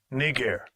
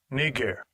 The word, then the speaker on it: Niger: __ ] Strong's G 3526 knee gear knee gear all right that's the proper pronunciation of that word it was not a